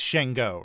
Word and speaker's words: Sango: It's Shango, right? Yeah, it's Shango. Shango. Okay. It's Shango. I was gonna more Shango, but with Shango. Shango. Sorry, Shango. Even though it's spelled Sango, it's pronounced Shango.